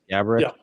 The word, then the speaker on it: Gaborik: And then the only player above him for that is Marian Gaborik. I'm saying it right? Gaborik?